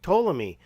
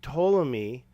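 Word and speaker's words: Ptolemy: was there a king toomy and he said yes there was and there were several rulers named toomi by the way I'm assuming that the p is silent but I said well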